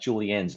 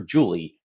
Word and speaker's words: Julie Ann: It is with no small irony that during our conversation on inclusivity, I repeatedly got Julianne's name wrong. I called her Julie, not Julianne, which is a mistake I made in the moment.